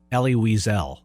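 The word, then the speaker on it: Elie Wiesel: I might be mispronouncing this, so forgive me. Ellie Whisel or Eli Weisel. Ellie Weisel.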